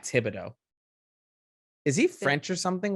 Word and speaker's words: Thibodeau: t-sh oh okay yeah i knew it was thibodeau but then people call him tibbs tibbs yeah okay that's just like a nickname but it's not thibodeau is he french or something what's that last